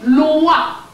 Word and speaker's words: Loa: Both are pronounced the same way.